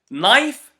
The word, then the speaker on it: knife: KN KN no not you can notice that all of these words starts with K and N but when I was pronouncing them I didn't pronounce the k this is the first rule that we have for it today whenever you have a word that starts with K and N we never pronounce the k can you think of